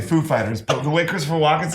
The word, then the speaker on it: Foo Fighters: he asked us if the accent was on foo or fighters and we know who he is like of course we know how he speaks and we said the accent is on fighters actually so he because